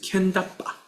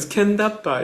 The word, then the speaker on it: Kendappa: But Kendappa is a transliteration of Gandharva into kanji and pronounced in Japanese. Kendappa.